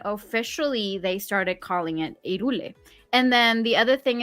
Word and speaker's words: Hyrule: However, the correct pronunciation in Spanish, H, it doesn't have a pronunciation. So in Spanish, it's Hyrule. Hyrule.